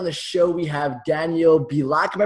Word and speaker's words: Bielak: Today on the show, we have Daniel Bielak. Am I pronouncing that right?